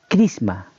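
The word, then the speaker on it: χρίσμα: el idioma griego y su significado o su pronunciación, bien dicho, es crisma.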